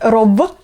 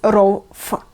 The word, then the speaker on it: ров: Oh, I also forgot to mention that when the letter V appears at the end of the word, we pronounce it not as V, no, but as F. So it's not rov, but it's rov.